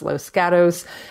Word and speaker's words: Los Gatos: It's pronounced Los Gatos.